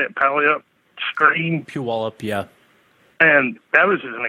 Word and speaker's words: Puyallup: Puyallup, yeah.